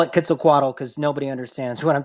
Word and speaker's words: Quetzalcoatl: I don't know, and actually it's not Quetzalcoatl, it's actually pronounced Quetzalcoatl in Nahuatl. But I call it Quetzalcoatl because nobody understands what I'm talking about if I say Quetzalcoatl.